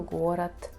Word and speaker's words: город: Например, звонкие согласные в конце слова оглушаются. Да? Мы пишем город, но говорим город.